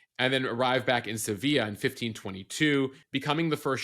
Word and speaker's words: Sevilla: call Hudson Bay Canada appreciate that you said Sevilla instead of Seville the American pronunciation Joe I didn't study abroad in Spain